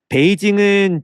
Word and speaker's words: 베이징: 베이징은 중국어 발음으로 읽은 거고요. 한자를 그대로 우리말로 옮기면 북경이라고 합니다. 그래서 여러분 옛날 책을 보면 북경이라고도 돼 있을 거예요.